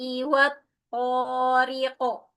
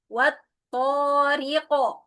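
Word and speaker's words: والطارق: Wasamaai wat thqo. Hati-hati. Wa sama seperti dommah. Jadi memonyongkannya. wa wasama wat thqo qqalahnya bunyinya faqal o bukan wat thq tapi wat thqo wama adrok thqo anajmusqib Hati-hati nun tasdid dengungnya sempurna.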